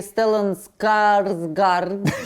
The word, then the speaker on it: Стеллан Скарсгард: А какой потрясающий Стеллан Скарсгард, так это произносится?